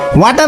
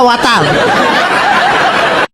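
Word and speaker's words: water: ওয়াটার না, এটা ওয়াটার। জিহ্বার আগে সামনের দুই দাঁতের সাথে লাগবে।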